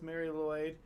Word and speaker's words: Mari Lwyd: Seeing as she's acknowledging acknowledged difficulty with the Welsh accent, I'm cool with Mary Lloyd. as the most correct pronunciation.